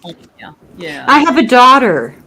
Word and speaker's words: Anja: Anja, but she pronounces it Anya.